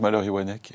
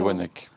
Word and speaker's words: Wanecque: Ça fait quoi d'être malheurek ? Je dis one, je prononce. On dit oneek, je précise comme ça tout le monde maintenant.